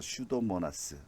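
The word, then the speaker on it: Pseudomonas: 그다음에 피루시아 덴터것은 저기서 피는 묵음이에요. 그래서 슈도모나스 그렇게 얘기를 하고요.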